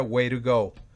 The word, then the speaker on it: way to go: go literalmente el puedes lentamente sería way to go pero se pronuncia wire go where go alguien que